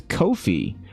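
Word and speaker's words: Ko-fi: The answer is Kofi. reminds with no fee.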